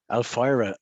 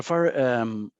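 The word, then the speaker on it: Alphyra: Let's move over to, you're going to have to help me pronounce this, is Alfira Payments? Alfira. Alfira Payments. Yeah. Alfira.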